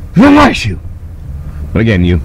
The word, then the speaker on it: Vanuatu: I understand the locals say Vanuatu, like a sneeze. Vanuatu!